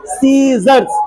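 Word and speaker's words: scissors: I double S ओ आर एस क्या पढ़ेंगे सीजर्स स सी तो क्या पेंगे सी को प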